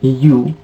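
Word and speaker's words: ewe: For example, E-W-E, we say it U.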